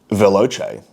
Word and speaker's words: Veloce: You pronounce it veloce. It's an Italian word. You said that already. And the C is pronounced like a ch in cheese.